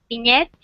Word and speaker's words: vignette: Vignettes. You pronounce vignettes like the French ones?